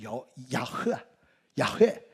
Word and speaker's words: 야훼: 원래는 이 히브리어 원문을 보면 야훼 이런 식으로 발음을 해야 되는데, 왜 발음이 어렵냐면 원래 성경 원문을 보면 모음이 없어요.